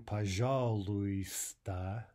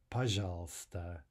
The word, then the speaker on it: пожалуйста: So we're writing pajaluista, but we're saying pajalsta, pajalsta.